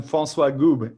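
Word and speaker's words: François Goube: pronounced your name wrongly can you tell us how to pronounce the name right yeah I'm Francois goob yeah it's a very French name you can't and you can't be more French as a name nice nice so from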